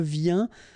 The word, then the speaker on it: viens: Je viens, final S not pronounced, okay? And when you combine this IEN, you get this yin, yin.